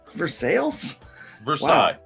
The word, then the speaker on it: Versailles: it is some people some people will call it for sales usually it's pronounced versailles because there's actually a